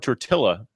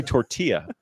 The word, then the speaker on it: tortilla: pilita this was explained if you ever ever said the word tour Atilla it's actually tortilla spicy peppers called a Jalapa